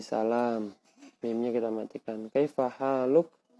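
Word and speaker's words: حالك: Kaifa haluk? Padahal tulisannya haluka, tapi kita matikan haluk, ka-nya jadi mati, haluk.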